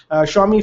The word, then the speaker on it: Xiaomi: this zomi xiaomi xiaomi it's spelled as xiaomi shomi phones as of now